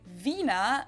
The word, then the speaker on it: Wiener: in German we say Vina the German W is pronounced like in English V and it usually refers